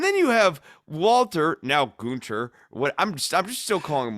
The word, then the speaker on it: Gunther: No, it's not Gunther, it's Gunther.